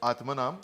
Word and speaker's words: Atmanam: Atmanam. So Atmanam is 2 words. Atma, which is Atma, and Nam, which means us or the whole in Tamil.